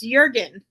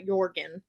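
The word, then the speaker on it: Jürgen: and Five Sisters elizeth you say it's it's Jurgen not Jorgen I don't care all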